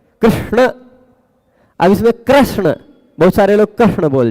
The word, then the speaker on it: कृष्ण: में ऐसा होता है ऋ बोलना है लेकिन र बोल जाते हैं कृष्ण कृष्ण अब इसमें कृष्ण बहुत सारे लोग कृष्ण